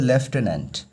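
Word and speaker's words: Lieutenant: বুঝতে পেরেছ Delhi left governor ঠিক আছে এটার উচ্চারণ হবে লেফটেনেন্ট তো দিল্লির লেফটেনেন্ট গভর্নর ভিকে সাকসেনা ঠিক আছে দিল্লির যে লেফটেনেন্ট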